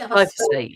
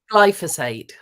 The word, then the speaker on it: glyphosate: Roundup, which is glyphosate, is it? Glyphosate, yes. Sorry, how do you say it? Glyphosate.